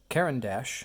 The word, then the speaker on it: Caran d'Ache: So the pen and pencil are made by Caran D'Ache, I believe is how you say that. It is spelled C-A-R-A-N and then a D with an apostrophe A-C-H-E.